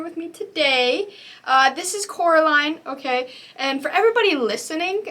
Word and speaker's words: Coraline: yeah so this is caroline um actually no it's coraline i'm sorry i mispronounced